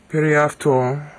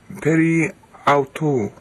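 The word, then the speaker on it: περὶ αὐτοῦ: Periafto, aftu. It's not aftu, that's modern Greek. Periautu.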